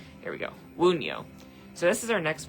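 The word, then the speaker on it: Wunjo: But P is the joy one, and it's pronounced Woon, like Woon, and then Yo, Wunyo.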